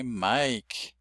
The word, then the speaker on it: Mike: The silent e indicates a long vowel. Mike. And if you know your name is Mike, you can see that's the way it's spelled in traditional spelling. But you say it without saying that E on the end. You say Mike. And so you say three sounds. The M, the K, and the long I.